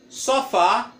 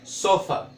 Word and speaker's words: sofa: Sofá. Só muda a pronúncia. Olha, não é sofá, é sofa. Sofa, a pronúncia.